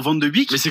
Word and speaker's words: Van de Beek: J'ai entendu certains rigoler sur Van de Beek. Mais c'est comme ça qu'on dit. C'est donc une très bonne prononciation.